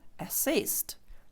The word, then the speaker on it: assist: якуто артикль е е тому тут нас буде слово Assist наголос пада на другий склад тому е ну буква ця читається як е Assist і відповідно від нього